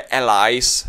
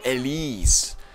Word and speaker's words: Élise: přemejšlel jestli to jej jméno se vyslovuje elies jakože americky ale je to samozřejmě francouzsky Takže je to El ta francouzština V týhle